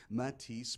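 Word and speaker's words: Mathis: of the name so it's pronounced like the painter it's spelled like the singer m- a t h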